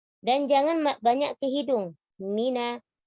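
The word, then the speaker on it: من: Minash, mina, nunnya tipis. Tidak mino, minos. Dan jangan banyak ke hidung. Mina, huruf mim dan nun kalau berharokat, gunnahnya angkos. Dikit sekali. Tidak mina, tapi mina syaitoni.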